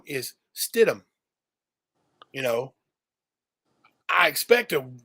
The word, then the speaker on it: Stidham: yeah for that area you know the h is silent you don't call it ham it ain't steed ham